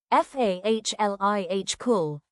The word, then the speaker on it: follicle: base of the hair, the follicle, pronounced f ah l ih cool, a sack-like pit in the skin from which the hair grows.